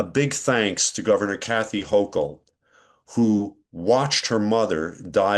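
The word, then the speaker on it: Hochul: thank you to Governor Kathy Hochel, if that's how I pronounce her name. I live in France. Yeah, Hok. It's not a French name.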